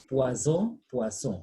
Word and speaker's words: poisson: s sound is returned but now it is single s between the words so the sound becomes what said poisson so pronunciation is very